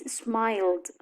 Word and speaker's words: smiled: We pronounce D after other sounds. For example, M, N, L, vowels. In the case of smile, the past is smiled.